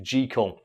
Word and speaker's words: Jekyll: Well, the actual pronunciation of Jekyll is Jekyll. Really? Yes, because it's an old Scottish name and it's supposed to be pronounced like it rhymes with the word treacle.